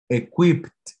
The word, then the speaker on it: equipped: En principio es pronunciar la D. Entonces, aquí dijimos que era equipped. Equipped. Obviamente, para nosotros de pronto es difícil porque no estamos acostumbrados a tener dos consonantes juntas. No las pronunciaría, pronunciaríamos una, pero no la segunda. En inglés necesitamos pronunciar equipped.